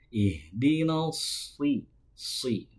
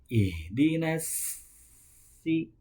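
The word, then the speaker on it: الصراط: Yang selanjutnya membunyikan huruf so jangan dibunyikan seperti huruf sin. Ihdinal si diangkat pangkal lidahnya ke langit-langit sehingga hurufnya menebal. Ihdinal bukan ihdinas si.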